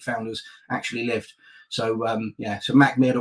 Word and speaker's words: Mackmyra: So so MACKMYRA, or MACKMYRA, which is probably closer to how a Swedish person would pronounce it.